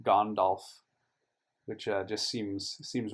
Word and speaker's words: Gandalf: in the last video i realized that gandalf should actually be gondolf which just seems seems